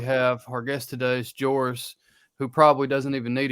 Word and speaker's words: Joris: It's Joris with a soft J, but whatever.